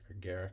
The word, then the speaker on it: agaric: with amonita muscaria or the fly agaric Garrick as it sometimes said how it's pronounced it is a close